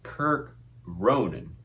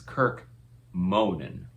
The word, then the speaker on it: Kirk Ronan: It's not Kirk Ronan. It's Kirk Monan.